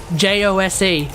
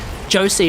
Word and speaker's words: Jose: out completely different like j-o-s-e i tend to read that as josie but it's actually jose and i was like